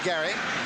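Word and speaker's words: Gerry: Spells it G-E-R-R-Y, pronounces it Gary.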